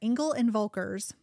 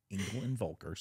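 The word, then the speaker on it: Engel & Völkers: yeah Stephanie so at Engle and vulker so let me tell you um it's German and it's hard to say Engle and vulkar Engle and vulkar um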